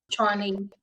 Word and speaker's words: Tshwane: Yeah, really, really beautiful and empowering, and love what you're doing with the it's Swanee, right? Is that correct? Yes, That's it. Yeah. Tshwane.